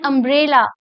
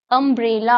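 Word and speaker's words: umbrella: एन अम्ब्रेला, यहाँ पे यू है लेकिन साउंड क्या निकल रहा है, अम्ब्रेला, अ साउंड निकल रहा है, तो क्या लगाओगे, एन लगाओगे।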